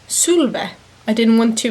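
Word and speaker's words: Sulwe: It's actually pronounced Sulve.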